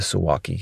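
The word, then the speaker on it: Suwałki: Construction, traffic, always raining, and the gap, the Suwalki gap. The Suwalki, if you pronounce it the Polish way, but I'm going to pronounce it the American way because I'm an American.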